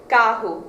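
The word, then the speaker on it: carro: r in Portugal versus in Brazil where it sounds more like an h and the word muler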